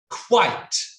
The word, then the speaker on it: quite: q-u-i-t-e in a workshop quite why do i quit no quite so quit would be q-u-i-t quit yeah but in the